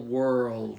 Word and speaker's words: world: it's a small Road put that L on higher on your with using your tongue higher okay it's it's a